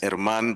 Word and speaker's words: Herman: My name is Herman. H is silent.